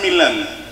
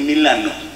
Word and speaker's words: Milano: la primera parada fue milann ya estando ahí me explicaron que no se dice Milan se dice Milano Oh Okay Yo no